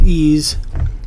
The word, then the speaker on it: EES: EES which is pronounced ease is an acronym for Engineering Equation Solver there are built-in functions